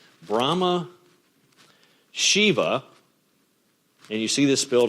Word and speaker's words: Shiva: and go with it these are either si VA or Shi VA you also hear pronounced in different ways Shiva and Vishnu V is